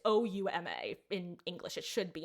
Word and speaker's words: Ouma: Like that's not how you spell his name. It has an extra syllable in it. It's supposed to be Oma, not Oma.